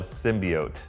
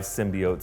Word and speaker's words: symbiote: say it, symbiote is also an acceptable pronunciation. So for anyone who has a problem with it being bi, it's actually okay for it to go both ways.